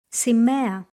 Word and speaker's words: σημαία: Alpha iota sounds the same as the letter epsilon, e. Γυναίκα. Σημαία.